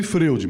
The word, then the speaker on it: Freud: Se escreve freud, mas a gente fala freud, né?